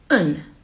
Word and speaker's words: een: a house you would write like this but pronounce it un but when you want to say one house